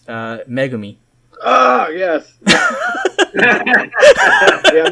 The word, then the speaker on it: megami: say it curious now they pronounce it like mega me yeah yeah i'm like she's not mega man stop it well again so you